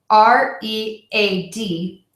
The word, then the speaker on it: read: that is spelled r-e-a-d you might think there are four sounds in that word that is not the case there are only three sounds in that word when we pronounce the word so four letters r-e-a-d three sounds read so three sounds and